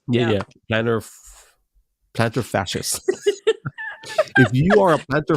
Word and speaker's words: plantar fasciitis: Plantar fasciitis. Yeah, Yeah. yeah, plantar fascist.